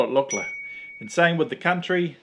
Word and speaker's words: Lukla: p1 we'll start off with pronunciation it is pronounced look i know there's a few various shows out there that have called it luckler but if you want to win the locals over call it lochla and same with the country nepal very phonetic